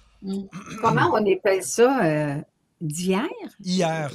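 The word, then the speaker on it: Hyères: Hier. C'est comme le mot hier? Oui, hier, ça s'écrit H-Y-E-R-E-S.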